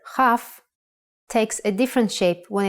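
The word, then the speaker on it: כ: Chaf. A good example is the word kochav, kochav, which means a star. K, O, Cha, V, kochav. And in print version, kochav. Be careful though, the letter chaf takes a different shape when it is written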